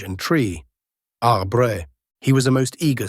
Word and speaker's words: arbre: in the same way he was taught to pronounce ape, singe, and tree. Arbre.